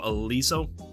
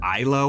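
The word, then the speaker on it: Iliso: yeah I think so Aliso I thought it was ILO when they talked about it but it's spelled i-l-e-s-o and it is set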